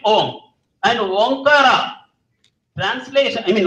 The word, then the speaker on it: Om: When they are, when these two are united at the center of the forehead, what do you get? Ohm. Dr. Shanmugamurthy was correctly pronouncing it. First, we start with when you close your lips, what happens? M is automatically formed inside. M means silence. So you get Om.